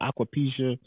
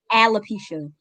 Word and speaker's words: alopecia: hair's falling out you've got aquapecia i think i'm saying it right no no what is aquaponics alopecia yeah that if you